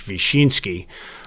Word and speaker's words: Wisinski: my last name there wisinski which is actually pronounced polish vinski which I had come